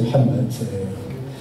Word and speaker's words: Mohamed: ailleurs à l'étranger mais on ne prononce même pas le ha donc c'est ma mère direct. Et puis, c'est vu, c'est Mohamed.